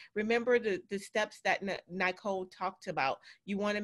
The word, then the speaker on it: Nicol: pronunciate your name correctly because it's nicole that's why there's no e people so just remember